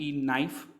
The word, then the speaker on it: knife: Common words हैं, जैसे नाइफ है, KNIFE, नाइफ, कनाइफ, लेकिन उसको पढ़ते हैं हम नाइफ।